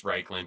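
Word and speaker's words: Reikland: Reichland, Reekland, somethingland. I'm pretty sure it's Reichland because it's supposed to be a play on Reich.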